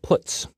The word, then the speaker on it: puts: are the most popular they are pronounced print F put car and puts each function is designed